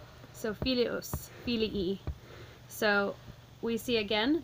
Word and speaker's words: filius: Broken into its syllables, we have a three-syllable word. If you start at the end, go back one. Is it long? It's not. Go back one more, and that's where our accent goes.